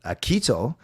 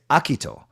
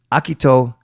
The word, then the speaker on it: Akito: But technically his first name, you could say it actually Akito. You could put the accent on the first syllable. So instead of Akito, you say Akito. So technically it's Akito Hirose.